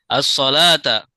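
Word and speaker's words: الصلوة: As-salata. salat Salat. Ini bacanya as-salata ya. Ya. Wawunya As-salat. wawunya tidak dibaca.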